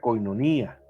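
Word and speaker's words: κοινωνία: La palabra comunión viene del griego 28:42, se pronuncia koinonía, entonces también puede traducir sociedad, participación.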